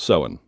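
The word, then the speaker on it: Samhain: ancient Celtic peoples of Ireland used to celebrate seen and yes it's spelled samhan or saman but it's pronounced soen and seen was the night when the door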